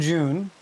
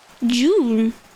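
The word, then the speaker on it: Joon: And June is spelled J O O N. June.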